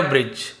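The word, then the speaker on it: bridge: Narrow कहा जाता है इसे ब्रिज पढ़ेंगे ब्रिज नहीं पढ़ेंगे डी को हमें नहीं पढ़ना ब्रिज ब्रिज यानी होता है पुल पेड़ का तना एक सककरे पुल जैसा लग रहा था।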